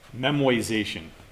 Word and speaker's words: memoization: you another technique entirely called memoization that is not a misspelling it is not a mispronunciation it is a weird